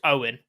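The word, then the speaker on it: Eoghan: in my name is owen which along with owen is the irish version of owen and it's pronounced exactly the same so his name is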